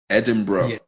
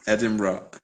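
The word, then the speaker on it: Edinburgh: would settle myself in EDM edim bro worked on the pronunciation edim bro and uh I would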